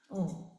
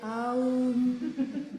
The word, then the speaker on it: Om: This is Om. And of course, when you chant, you don't separate the syllables. You don't say Aum.